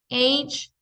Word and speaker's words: age: Age, lo mismo. Se pronuncia la A, se pronuncia la G, no se pronuncia la E.